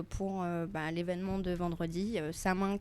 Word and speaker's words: Samhain: Mais bon, là par exemple pour bah l'événement de vendredi, sa main qui d'ailleurs je précise se prononce comme Halloween. OK. Qui s'écrit du coup s a m h a i n si jamais vous voulez nous chercher sur les réseaux sociaux.